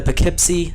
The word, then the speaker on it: Poughkeepsie: the Poughkeepsie seer and I actually looked that up so I spelled I'm saying it correctly although when you look at how it's actually spelled out it's not how it sounds in the slightest um Legend holds that